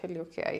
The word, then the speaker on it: Heliocare: Am I pronouncing it right? HelioCare, yeah.